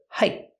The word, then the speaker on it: height: We hear the T in height pronounces a stop T. Not height, but height.